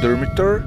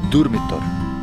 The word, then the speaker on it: Durmitor: You have to know how to pronounce Balkan R. It's not Durmitor, it's Durmitor.